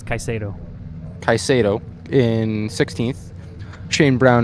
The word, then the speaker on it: Caso: how to say his name didn't we it's kaiso kaiso in 16th shanee Brown in 17th Sheldon